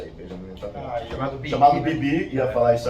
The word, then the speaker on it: Netanyahu: Lembremos que o Benjamin Netanyahu, olha a pronúncia aí, Benjamin Netanyahu, chamado Bibi, ia falar isso agora, ele é um cara de ultradireita, extrema-direita.